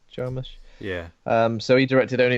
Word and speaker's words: Jarmusch: Jarmusch?